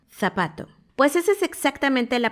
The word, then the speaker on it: zapato: Las personas en España la Z la pronuncian diferente a como la pronunciamos en Latinoamérica. Ellos no dicen zorro ni zapato. Ellos dicen zorro, zapato. Si te fijas, hay que poner la lengua en medio de los dientes, sacarla un poquito, pero sin que los dientes de arriba toquen tu lengua, porque hay que soplar un poco.